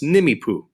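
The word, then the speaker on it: Nimiipuu: themselves nimipu as you it looks like a a lot more vowels there but it's pronounced nimipu isn't that fun to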